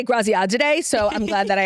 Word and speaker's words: Graziadei: How do you say his last name? Graziadei. But it's like Graziadei. I mean, I was going to say Graziadei, so I'm glad that I asked you.